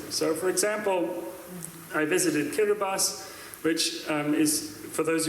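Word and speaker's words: Kiribati: So, for example, I visited Kirbas, which um is for those of you who don't know how it's spelled, it looks like Kiraabati, but it's spelled Kirabas.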